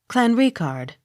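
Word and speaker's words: Clanricarde: a r d e clan recard accent on second syllable c o c k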